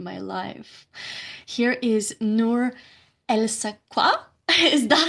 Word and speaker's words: Elsaqa: Here is Nour Elsaqa. Is that how you pronounce your name? I've never pronounced your surname. Nour Nour Elsaqa. Elsaqa.